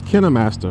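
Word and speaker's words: KineMaster: I use Kinnam Master with a K.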